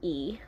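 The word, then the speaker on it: Lee: pachinko by min jin e yes i said e even though it says li because in korea you don't pronounce the l so it's e i'll just say min jin li to make everyone happy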